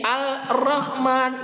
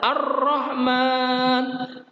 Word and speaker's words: Ar-Rahman: Atau misalkan seperti ini, Al-Rahman itu tidak seperti itu. Kalau alif lam syamsiah, lamnya lebur atau idgham. Dileburkan ke huruf di depan lamnya, yaitu huruf ro. Jadi dibacanya adalah Ar-Rahman, Ad-Dolalah, As-Salah.